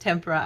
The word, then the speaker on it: tempera: I'm such a big shot now saying tempera since I relearned how to say it from an artist on Artist Academy. She was talking about them and she was calling them tempera, and I'm like, oh, that's right, they are pronounced tempera.